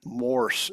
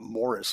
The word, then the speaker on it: Morse: maybe become profession with Morse and it it's one syllable that's one of the picky things I have some many people call it Morris like Morris the Cat but it's moris m